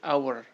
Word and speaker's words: hour: e karena ketika dibaca huruf Ha ini tidak diucapkan karena pengucapannya menjadi our yang muncul di sini